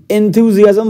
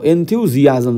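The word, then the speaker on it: enthusiasm: nine বলছে correctly spell two word সঠিক ভাবে উচ্চারণ করা আছে কোনটা এন্থিউজিয়াজম বলতে চেয়েছে উৎসাহ এন্থিউজিয়াজম সি ইজ the correct answer E এন এন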